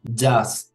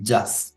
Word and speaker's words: jazz: Otro punto con palabras extranjeras, por ejemplo, jazz, jackpot, jeans, jacuzzi, donde la letra J se pronuncia como si fuera una letra G.